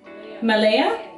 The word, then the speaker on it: Malaya: refine and it's called how the do you pronounce that how do you know is this m-a-l-a-y-a malaya yeah it's called malaya makeup is finito